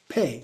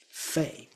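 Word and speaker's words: phat: P H A T, but it's more like pay. It's certainly not faith.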